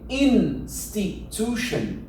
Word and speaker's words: institution: Donc, ça, tu peux le remarquer, tous les mots qui se finissent avec un T-I-O-N, ça se prononce shan.